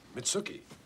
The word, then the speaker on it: Mitsuki: Mitsuki. Rhymes with nookie.